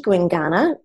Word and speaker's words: Gwinganna: Well, I guess if any of our listeners are interested in um going to see Guingana, how do you spell it again, Kimmy?